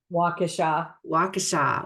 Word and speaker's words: Waukesha: I can't pronounce the city name. How do you say that? Waukesha.